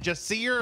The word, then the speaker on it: Jacir: to be opening up in theaters is it just see her am I pronouncing that right yeah you're right yeah before